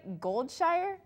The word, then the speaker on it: Goldshire: go to Aaron Osgood live in am I pronouncing this right goldshire yes that's correct Amanda I am standing outside